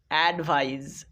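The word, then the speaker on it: advise: আই এস ইজ ভাইজ অ্যাডভাইজ এখানে যে জ এর উচ্চারণটা করছি মূলত এটা কিন্তু জ এর সাউন্ড নয় প্রথম ক্লাসে তোমাদেরকে শিখিয়েছিলাম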